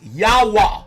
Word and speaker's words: Yahweh: Or they say Jah. But the J replaced the Y. the original pronunciation, according to the Tetragrammaton or the Yod Vahe, is Yahweh, Y-H-W-H.